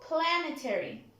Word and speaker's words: planetary: Can somebody help me with the stress of the word? Planetary. Rodrigo? Correct. At the first syllable. Planetary. Planetary. As you can see, here is the stress marked.